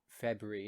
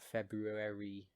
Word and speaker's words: February: I pronounce it like February, not February.